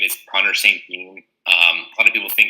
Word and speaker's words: St.Jean: So my name is Connor St.Jean. A lot of people think it's pronounced St.Jean because French Canadian, but my father is actually from the States, so it kind of became an anglicized name, St.Jean.